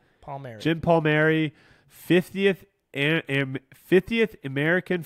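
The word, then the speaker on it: Palmeri: Mar's I'm GNA say that wrong you how pronounce that name p a l palmary Jim palmary 50th 50th American flying disc open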